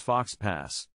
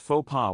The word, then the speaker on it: faux pas: in fashion next up faux pas often mispronounced as fox pass but in French it is pronounced faux pas without the S sound faux pas means a